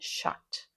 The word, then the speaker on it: shocked: Next, shocked with a T sound at the end, shocked.